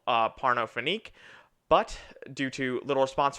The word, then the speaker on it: Pornophonique: We are reviewing, I pronounce it Pornophonique. Pornophonique to keep it CBS.